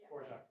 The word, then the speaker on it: Dvorak: They're doing Kamiak on the 18th, and they're doing Dvorak on the 31st. That's how you pronounce it in Eastern European if you went to music school. State Park. Dvorak.